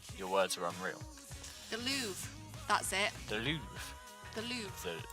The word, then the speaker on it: Louvre: words are unreal the louvre that's it the louvre the louvre oh wait yeah that's how they say it in french louvre louvre yes the louvre